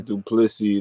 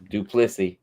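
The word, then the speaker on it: Du Plessis: It's Duplessis, the S is silent. Duplessis.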